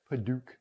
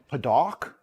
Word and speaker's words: padauk: of fun to say paduk i don't know if that's the right way to say it though p-a-d-a-u-k so it's almost like that second a is silent padawk which it seems like